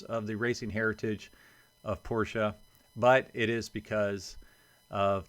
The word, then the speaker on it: Porsche: wondering I've been saying Porsche my whole life until recently and I was told that it's actually Porsche because it is based on the way the family's name is pronounced in German so apparently technically it